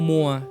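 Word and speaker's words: mois: น่า รัก อย่าง แองโก Mo หรือ ว่า แองโก มัว หรือ ว่า ท่าน มัว ของ เรา นั่น เอง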